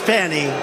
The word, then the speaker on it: Fani: it's all look at fonnie f a n i it should be pronounced Fanny Fanny funny funny they